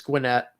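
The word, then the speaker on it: Gwinnett: the way not wrong i realized it's gwynette i realized i pronounced it wrong uh i'm not sure what you're talking about north carolina having 16.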